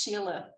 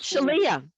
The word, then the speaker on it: Sheila: And also, Sheila is pronounced Sheila. It's not Shelia.